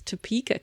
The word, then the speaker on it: Topeka: of English words, but I think it is Topeka, Kansas.